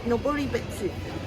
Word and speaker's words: Noboribetsu: I don't know how to pronounce it. Oh, it's Noboribetsu.